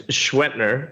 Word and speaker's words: Schwentner: My last name is Schwentner. It's spelled Schwentner, and people cannot say it.